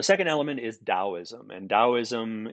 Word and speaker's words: Taoism: element is Taoism and Taoism is usually pronounced as if the first letter was a D but the first letter